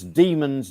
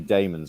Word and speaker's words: Daemons: 83 barryl says a note at the bottom pronounce demons DW m o NS because people sometimes think it's it might be Damons although John po does pronounce it as Damons